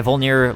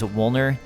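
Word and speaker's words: Vordt: vuler excuse me my vuler Lord video for pronouncing vuler as wner cuz I just I didn't know but now I do also the Japanese Katakana of vuler has it as wuu which would mean that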